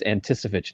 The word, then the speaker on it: Anticevich: Isn't it Anticevich? No, it's Anticevich now.